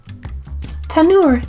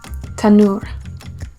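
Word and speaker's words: תנור: Tanur is spelled Ta, Nun, Vav, Resh. Let's say it together. Tanur. Let's review. Mincha, grain or food offering. Solet, fine flour. Shemen, oil. Afah, bake. Tanur, oven.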